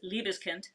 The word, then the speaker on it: Liebeskind: So in German, if you have IE, it's a hard E sound. If you Okay. have EI, it's a hard I sound. Just fun fact. Um, and Liebeskind, it's a Berlin brand.